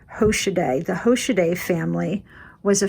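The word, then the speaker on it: Hoschedé: earn their living and i believe you pronounce it hoshide the hoshide family was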